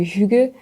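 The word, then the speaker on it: hygge: a beaucoup entendu parler du HUG qui s'écrit h y GG e qui est vraiment ce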